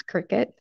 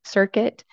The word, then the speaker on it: Cricut: an in-depth look into Cricut machines, their accessories, potential uses, and more. And if there was any confusion on how to pronounce Cricut, it is indeed said just like the bug, which is why earlier